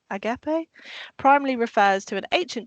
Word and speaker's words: agape: Um, so we're Did I pronounce it correctly? Agapee. Agapee primary refers to an ancient Greek concept of selfless, unconditional, and sacrificial love.